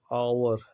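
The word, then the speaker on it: hour: के पहले एच आ जाता है तो उसका प्रोनाउंसिएशन नहीं किया जाता है। लाइक आवर, ठीक है, ऑनेस्ट।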